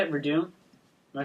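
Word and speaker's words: Werdum: That's how you say it, Verdun.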